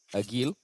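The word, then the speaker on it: Ag1l: So it's pronounced Agil. Agil.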